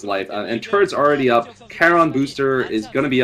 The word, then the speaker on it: Charon: how do you pronounce it? I usually pronounce it Charon. Charon boosters.